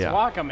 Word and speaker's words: Wacom: You become the industry standard of like 8 industries, and yet nobody knows how to pronounce the name. You got it right. It's Wacom.